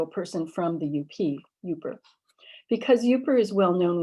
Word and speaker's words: Yooper: As you no doubt know, the name derives from the pronunciation of the acronym UP with right? So a person from the UP, Yooper.